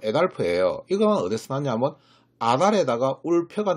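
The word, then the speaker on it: Adolf: 바로 아돌프라고 부르는데요. 아돌프의 정확한 발음은 에달프예요.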